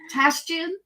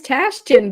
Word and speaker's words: Tashjian: It's Tashjian. It is Tashjian.